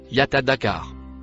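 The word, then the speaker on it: يتذكر: Le mot en rouge se prononce Yatadakar.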